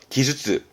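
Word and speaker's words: 技術: 발음은 기주츠. 키에 땡땡 붙습니다. 기주츠.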